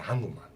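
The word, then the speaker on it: 한글: You could say that, but no one does in Korea. They say hangeul.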